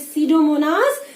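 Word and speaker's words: Pseudomonas: और सीडो की spelling P से शुरू होगी. पी इज साइलेंट, जैसे निमोनिया में होता है ना बेटा, पी साइलेंट होता है, ऐसे ही इसमें सीडोमोनास में एस से स्पेलिंग है, मगर the first alphabet is पी, इट इज सीडोमोनास.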